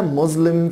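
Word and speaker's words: Muslim: بعد كده مسلم فيستيفال، مسلم فيستيفال، مسلم فيستيفال. خلي بالكوا حبايبي ان الاس هنا زه ساوند، يعني نطقها زه نوت س.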